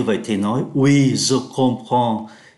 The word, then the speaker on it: comprends: Louise nghe như vậy thì nói oui, je comprends. Ký tự em ở đây phát âm là N do phải đứng trước ký tự P.